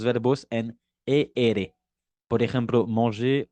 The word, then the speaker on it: manger: Es decir, que para los verbos del primer grupo, la pronunciación entre su infinitivo y su participio pasado no cambia para nada. J'ai mangé, eso he comido, ¿ok? Y su infinitivo es manger, ¿ok?